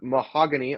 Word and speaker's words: Mahogany: Guard Christian Mahogany, I believe is how that's pronounced, Absolutely.